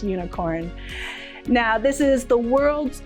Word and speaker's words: Unikrn: the esports company unicorn spelt unicorn but i'm pretty sure it's pronounced unicorn now this is the